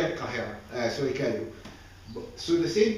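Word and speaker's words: القاهرة: Do we call it Cairo in Arabic? No. What do we call it? Al-Qahira.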